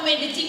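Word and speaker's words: Medellín: Dan ternyata ke Medellin, bacanya Medellin, itu butuh waktu hampir 40 jam.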